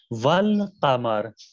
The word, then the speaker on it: والقمر: نہیں پڑھا جائے گا, حرف لام پڑھا جائے گا, حرف لام تلفظ کیا جائے گا. والقمر, والقمر کے اندر حرف قاف حروف قمری ہے, اور اس سے پہلے الف لام آپ کے جو آیا ہے اس کے اندر الف نہیں پڑھا جائے گا.